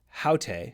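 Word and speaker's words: αὕτη: In the feminine, and pay attention here because it's haute, so both hutos and haute, the nominative singular, has that rough breathing mark, that H sound at the beginning.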